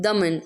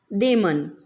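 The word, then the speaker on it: Damon: Second, it is not Daman, okay, it is Deman.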